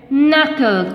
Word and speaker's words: knuckle: w is silent here knuckle k cylinder now come to the